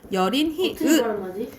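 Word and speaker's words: 여린히읗: 이걸 뭐라고 부르냐면 열인 히읗, 열인 히읗이라고 발음해요.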